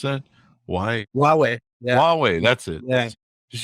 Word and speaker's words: Huawei: whole iPhone or you know how do they pronounce that why Huawei Huawei that's it guys just use it with